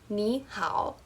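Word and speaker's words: 你好: both those dip shapes, when you have two dip shapes, which was the third tone back to back, the first one turns into a rising tone. So that's why it's pronounced nihal.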